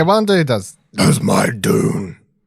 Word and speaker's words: Dune: be here to talk about june no it's dune june i don't but they never say it during the film so who knows how it's pronounced really yeah one dude does who's my dune right right old man